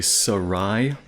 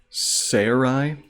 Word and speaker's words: Sarai: And in the Hebrew, you would say Sarai. They usually put the stress or the accent on the last syllable. So you might say Sarai. In English, when you anglicize it, you could say Sarai.